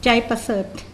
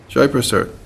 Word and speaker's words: Jaiprasad: How do we pronounce it? Jaiprasad. Jaiprasad.